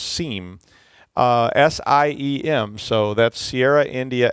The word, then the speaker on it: SIEM: always see people say seen but but it they said I would I looked it up and they said it was pronounced seam SIEM so that's Sierra